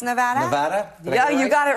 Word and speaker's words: Nevada: Yes, and how do you pronounce Nevada? Nevada?